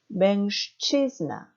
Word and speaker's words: mężczyzna: 자, 두 번째 단어가 어렵죠? 맹가 아니고 뒤에 치 때문에 슈 발음이 됩니다. 그것도 무성음화 발음이 되죠? 그래서 mężczyzna, 취의 강세가 있습니다.